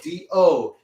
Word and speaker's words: do: syllable known as do d-o d-o is sounded as dough everybody say do good